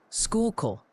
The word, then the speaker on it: Schuylkill: Schuylkill is decidedly Schuylkill. You were close, but they're passionate about that kill.